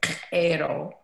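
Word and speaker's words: Q'ero: The Qero people, the Qero, to say it properly, come from a tiny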